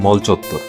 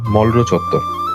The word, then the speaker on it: মলরো চত্বর: ঢাকা বিশ্ববিদ্যালয়ের কলা ভবন আর রেজিস্ট্রার বিল্ডিং এর মাঝামাঝি এই জায়গাটি মল চত্বর। কিন্তু জানলে অবাক হবেন, এই মল চত্বর কিন্তু আসলে একটি ভুল উচ্চারণ হওয়া নাম। এই জায়গাটির আসল নাম মলরো চত্বর।